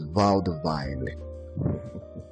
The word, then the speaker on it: vaudeville: So the remaining words Honorable Patrick used here are first cul-de-sac, Penelopic, vaudeville, or he pronounces it as vaudeville. That is his idiolect.